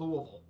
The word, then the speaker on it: Louisville: But I call it Louisville. like many locals. But like I said, the name pronunciation gets quite a few people, as I probably know.